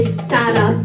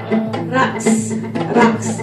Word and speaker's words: TarabRaqs: That T is kind of a T, kind of a D. And it's up here at the top of the Tarab. Try it and you roll your R. Tarab. Raqs. Now that raqs, it's sort of like rocks. They rock, right? But the raqs also is rolled. But the K sound is actually a call.